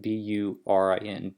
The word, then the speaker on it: burin: And so with an engraving here, you're using a burin, which is spelled B-U-R-I-N, burin.